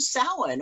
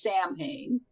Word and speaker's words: Samhain: the celts worshiped a lord of death named samhain or as it's frequently mispronounced samhain um which of course has now become a